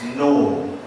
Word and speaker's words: know: ke dalam bahasa Inggris no. No itu k n o w g betul ya Pak Darwi ya membacanya no gitu ya. atau now kalau no kan now sekarang kalau KNOW kan no mengetahui.